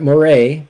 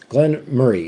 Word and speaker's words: Glen Moray: the Glenn Murray okay I'm going to be pronouncing this as as as much like the uh Scottish Folk do Glenn Moray not Moray okay uh Glenn Murray it's like you're saying the word Murray but you just kind